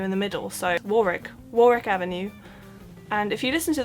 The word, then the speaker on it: Warwick Avenue: pronouncing it wrong because I was under the impression this is just called Warwick Avenue but I recently learned it's actually not Warwick Avenue it's Warick Avenue pronoun sounded like it